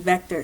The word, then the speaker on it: Vectr: a crash course and vector so vector is a free online program that you can download off the internet or get their app it's pronoun it's spelled vector without the l so pretty simple so